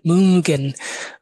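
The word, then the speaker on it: mögen: এটা উটারে উ এভাবে একটা উচ্চারণ করবেন, গুল করে উ, মুগেন।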